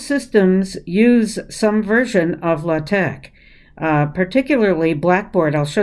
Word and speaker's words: LaTeX: math type uses latex it's spelled l-a-t-e-x but we say latex and it's l a